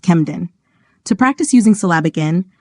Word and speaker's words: Camden: plus cabic nasal example Camden is normally pronounced kemen to practice using cabic